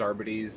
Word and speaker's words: Arbites: The technical term is Arbites. That's like how you're supposed to pronounce it, but I literally call them Arbites because it's funnier.